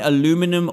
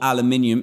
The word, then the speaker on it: aluminium: You find aluminum ore, or aluminium, if you're saying it correctly, which gives you this, which is aluminum ingot.